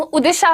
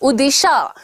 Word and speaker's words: उदिशा: मेरा नाम उदिशा है, UDISHA, ठीक है? श पे जोर दीजिएगा, उदिशा।